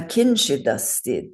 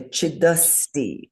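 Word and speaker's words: kiñcidasti: So do you see the way those sounds run together? Like we say chidasti, as though it were one word. In English, we would break the sounds up. Na, kin, chid, asti. We don't do that in Sanskrit.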